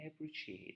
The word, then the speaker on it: appreciate: There's a T sound, but it's not a strong sound. You can say appreciate. Appreciate. It's like D.